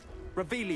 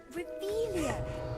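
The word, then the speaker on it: Revelio: Revelius. You're saying it wrong. Ugh, Revelia.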